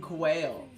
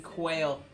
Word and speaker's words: Quayle: His name is Dan Quayle.